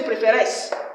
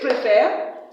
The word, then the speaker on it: préfères: Tu préfères. Il préfère. Please, children, I don't say préféresse. Remember, S is silent. Tu préfères.